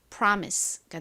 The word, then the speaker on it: promise: 가장 앞에 P는 피읍 소리, P 소리가 나고 다음 R은 리을 소리, 그리고 O는 한국식으로는 오로 읽는데 실제 미국식 발음에서는 이 단어가 아 소리로 쓰였습니다. 그래서 pra라고 발음해 주셔야 되고요. M은 미음 소리, I는 이 소리, 그리고 끝에 SE는 S 소리로 쓰여서 연결하면 promise가 됩니다.